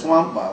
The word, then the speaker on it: Nwankpa: Yeah, it's Nwankpa.